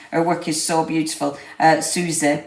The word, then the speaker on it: Soizie: Susie, but it's spelled Soizie.